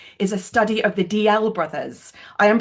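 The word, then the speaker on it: Dalziel: They anglicasize their name, but I find it very difficult to say anything but DL. So, I will I will stick stick with that.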